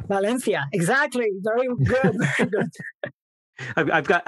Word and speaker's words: Valencia: Or, if I want to pronounce it properly, Valencia. Valencia.